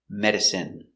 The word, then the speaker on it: medicine: same in in remember medicine margarine intestine or intestines more than one genuine famine remember it's countable a famine famine and Jasmine so all of these words are pronounced with the in sound for the in turbine